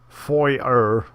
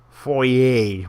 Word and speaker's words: foyer: Anyways, I like foyer better, but foyer might be the correct way. Let's ask Wikipedia since I'm here. Yep, it's a French word, so the R is silent.